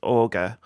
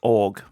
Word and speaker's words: auger: my forever dm keith he pronounces auger as org and i've never been able to change his pronunciation of it and honestly i've stopped